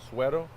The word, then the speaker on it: Suero: do you say your last name nice sweeto suero s-u-e-r-o sweater yes okay he's been playing in